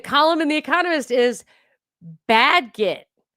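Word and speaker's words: Bagehot: of the column in the economist is bad git with a short sound like in cat. Bad get bad get.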